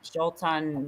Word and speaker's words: Xultun: It's spelled Xultun. It's the Jolton Maya tarot deck.